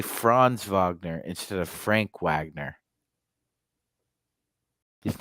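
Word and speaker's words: Franz: practice so yeah Avant his name is spelled France but France in German is Frank just like maritz is maritz but they call him Mo yeah Kurt's asking another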